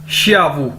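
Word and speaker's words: 下午: Next है जी हमारे पास श्यावू। एक्स को हम शीन के तौर पर प्रोनाउंस करते हैं, XIAWU, श्यावू, श्यावू। श्यावू मतलब आफ्टरनून, दोपहर।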